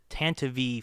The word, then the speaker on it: Tantive: And I was like, is it Tantive? Have I been saying it wrong all this time, or is this a different pronunciation? Tantive or Tantive? Yeah, the Tantive. Tantive. Because I think it's just Tantiv, right?